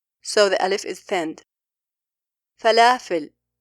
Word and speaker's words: فلافل: Lam is a thinned letter here. For that reason, the alif is thinned. A common mistake by non-Arab when pronouncing this letter is saying falafel. They are fattening all the letters of the word, while all these letters are thinned.